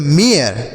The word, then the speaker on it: mare: रूप में होगा MARE, तो यह हो गया मेयर। क्या हो गया, मेयर। इसे ना तो मेयर पढ़ेंगे, ना तो मारे पढ़ेंगे, ना तो मैर पढ़ेंगे, ना तो मार पढ़ेंगे, कुछ नहीं पढ़ेंगे।